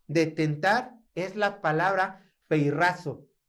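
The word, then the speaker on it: πειράζω: La palabra de tentar es la palabra peirrazo. Yo sé que ahí se escribe peirazo, ¿no? Pero se pronuncia peirrazo.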